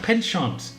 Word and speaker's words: penchant: Penchant. Penchant. Penchant. But you're speaking like a Frenchman. Yeah, but that's how you pronounce it.